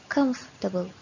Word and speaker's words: comfortable: is strong but remember it has only three syllable with the stress of the first syllable comfortable now this work just